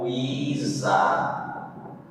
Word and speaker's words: ajuizar: Ajuizar. O zá foi mais forte. Não foi o I, então não acentua.